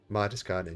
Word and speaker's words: Martiskainen: Martiskainen.